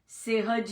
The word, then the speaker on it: सहज: यह बोलूंगी, अभ्युदय, हाँ, सहज, सेहज नहीं, सहज, सहस्त्र, ऐसे ऐसे बोलूंगी मैं।